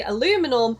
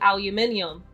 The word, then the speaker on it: aluminium: You guys say aluminum, we say aluminium." That's how it's pronounced in the UK.